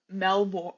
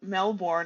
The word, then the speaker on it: Melbourne: for 8 years in Melbourne. Melbourne. I always say it wrong. It's Mel. okay. The Australian way is Melbourne, but Yes, you can say Melbourne. It's okay. I'm gonna say Melbourne. I'm not Australian.